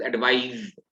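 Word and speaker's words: advise: और प्रोनाउंसिएशन में भी थोड़ा सा फर्क है, दिस इज एडवाइज और वो एडवाइस। जब नाउन है तो एडवाइस है, और जब वर्ब है तो एडवाइज है।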